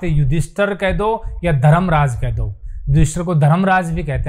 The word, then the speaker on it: युधिष्ठिर: विष्णु तो इसलिए स्थल यह युधिष्ठिर बोलते हैं विड्थ नहीं बोलते हैं युधिष्ठिर शुद्ध उच्चारण भी